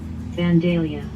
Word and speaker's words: Vandalia: video 17 seconds this is vandaly how to pronounce cities of the world we're gonna try that vandalia vandalia vandalia dandelion vandalia vandalia dandelion vandalia vandalia